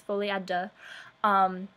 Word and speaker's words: folie à deux: But if you pronounce it wrong and you know how to actually say it right, you also feel kind of uncomfortable. So basically, the correct way to say it is folie à deux.